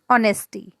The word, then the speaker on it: honesty: Here is honesty. H is silent. So we pronounce it honesty is the best policy.